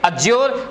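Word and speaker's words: adjure: अब देखो बच्चा, कभी भी ध्यान रखना है, डी के बाद में जेड आता है, डी साइलेंट कर देते हैं, जैसे एडजस्ट नहीं बोलते, एडजस्ट बोलते हैं, एडजेक्टिव नहीं बोलते, एडजेक्टिव बोलते हैं, इसी तरह इसको बोलतेंगे अज्योर, इसको बोलेंगे अब्ज्योर, डी साइलेंट हुआ, ठीक है।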